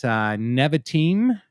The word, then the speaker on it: Nevatim: Iranian propagandists have also alleged that Nevatim, is that how you pronounce that, Matt?